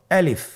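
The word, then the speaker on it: ألف: বলতে হবে বলুন আলিফ আলিফে কিন্তু কোন টান নেই আপনারা বুঝতে পারতেছেন আমি যখন আলিফ বলছি এর মধ্যে কোন টান হবে না। আলিফ আবার বলুন আলিফ।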